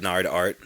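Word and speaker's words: Gnardart: on uh is it nard art nard art yeah it's an art art yeah gn yeah g silent g g n g-n-a-r-d-a-r-t check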